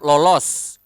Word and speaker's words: lolos: We have lolos. Lolos is to successfully escape or avoid something. Lolos, lolos. You need to pronounce the S clearly.